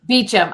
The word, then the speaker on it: Beauchamp: and let me correct you for my followers correct here we pronounce it beecham here beacham i'm sorry i always